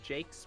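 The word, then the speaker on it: Jacques: Jakes uh I double checked his Wikipedia page Jakes pronounced Jake got it like several of my cousin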